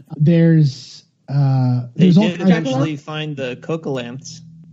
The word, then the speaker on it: coelacanth: Oh, there's did eventually find the coelacanths. I'm probably mispronouncing that. Coelacanth, right? Coelacanth. Yeah. I was like coelacanth, and then I was like, oh, it must be coelacanth.